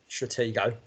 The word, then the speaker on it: Stratego: Stratego. And I actually went online, and there's an American geezer pronouncing it if you go to the right website.